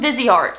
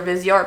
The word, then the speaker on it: Viseart: Next up is from Viseart. I always want to say Viseart when I see that because that's how it's spelled out, but I know it's Viseart.